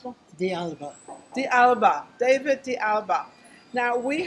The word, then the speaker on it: Alba: How do you pronounce that? Alba.